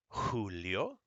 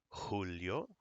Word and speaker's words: Julio: Now the J makes a h, like an H. A J is kind of like the Spanish version of our H. So this is pronounced Julio, jalapeno, jota. Julio, jalapeno, jota.